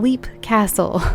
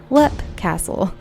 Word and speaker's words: Leap Castle: I hope you got a good laugh at me saying Leap Castle. I have since learned that it's pronounced Lep Castle.